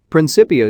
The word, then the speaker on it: Principia: Principia is pronounced with a hard C.